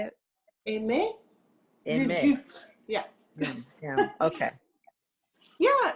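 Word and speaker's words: Aimée: Aimé.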